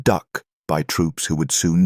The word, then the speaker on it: DUKW: D U KW pronounced duck by troops who would soon drive them into combat.